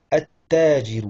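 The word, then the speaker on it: التاجر: At-tajiru. Donc là, on ne prononce pas le lem. Et on met une shedda sur le ta.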